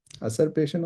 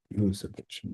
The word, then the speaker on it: usurpation: असरपेशन होता है या यूसरपेशन होता है? असरपेशन. यूसरपेशन. यूसरपेशन, राइट. तो इट्स रेस्टेड ऑन अ